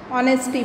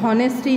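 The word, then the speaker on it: honesty: ऑनेस्टी बोलते हैं, हॉनेस्टी नहीं बोलते.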